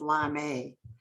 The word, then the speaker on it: Larmay: I use my maiden name, Larmay, on all my Larmay. paintings. So Okay. I think most people in the arts know me as Larmay, Larmay, True.